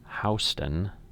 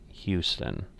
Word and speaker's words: Houston: and talk to them it is houston not houston so um again just to